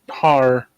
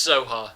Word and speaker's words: Zohar: I have met God his name is har no it's Zohar it's it's like it's the idea is the first syllables have been cut off because the transmission's just starting to get through or something and now